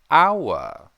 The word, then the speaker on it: hour: Hour. Now, that has a vowel sound, but it starts with an H.